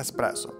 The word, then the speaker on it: espresso: correctamente el proceso, pero la palabra original italiana no tiene x, este error es tan común que incluso en algunos diccionarios de inglés se escribe con una x xpro, pero es correcto decir El espresso, que viene de un